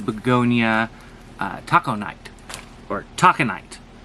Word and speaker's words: Taconite: uh taco night or taconite it's spelt uh let's see t o c t o t a c o n i t e like taco nine like you know taco tuesday talking night it's a deep deep